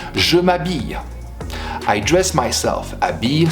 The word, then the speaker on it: habille: Habille starts with a silent H, M apostrophe.